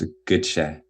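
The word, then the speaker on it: Gøtzsche: me about three times it's it's pronounced a good shay i'll get you okay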